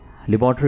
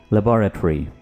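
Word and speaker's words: laboratory: है हालत ठीक है इसको आमतौर पर तो लेबोरेटरी बोला जाता है ठीक है लेकिन इसको करेक्टली इंग्लिश में कैसे प्रोनाउंस करेंगे लेबोरेटरी लेबोरेटरी लबो लबो रेटरी लैब शॉर्टली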